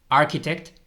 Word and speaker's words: architect: farmer arquitecto veis que no se pronuncia la ch es como suena como una k architect Butcher batcher cook Cook